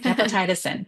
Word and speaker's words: gepotidacin: It's gepotidicin. Gepotidacin, I think. Gepotidacin. Yeah. Now I'm looking at it. That's right. Gepotidacin.